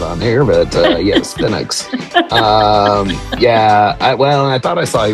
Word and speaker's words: Penix: Yeah, you pronounce it Penix, not the other way. Our opening conversation was not on here, but yes, Penix.